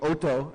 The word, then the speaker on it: Oto: So that would be Oto, actually, yeah. For the correct Japanese pronunciation, Oto.